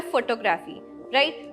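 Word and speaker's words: photographer: हम ये जो PH है इसको हम F पढ़ेंगे, फोटोग्राफर। अब सोच रहे होंगे इसमें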